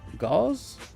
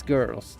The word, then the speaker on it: gauze: Oh, did I pronounce it correctly? Gauze? No, that's girls. No, gauze. Gauze.